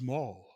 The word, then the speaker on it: Maul: name's Maul it was the name's Maul rhymes with Paul but with an M but he was dressed